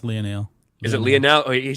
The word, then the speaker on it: Lionel: how I say it it's supposed to be Lionel I don't know no that's pronounced Leonel is it Leonel he